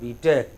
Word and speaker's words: B.Tech: Not B.Tech, but B.Tech.